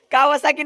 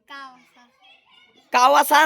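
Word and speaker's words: Kawasaki: कावासाकी बोल कावासा कावासा नाही रे कावासाकी तू दोन मिनिट पूर्ण बोल एकदा कावासाकी Ninja to आर कावासाकी Ninja to आर अरे कावासाकी Ninja H टू आर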